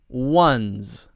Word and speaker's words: ones: es 4 o NES the only thing you need to know is that you don't need to stop your voice ah throughout the whole word ones ones ones ones notice the little Z sound at the end of ones ones ok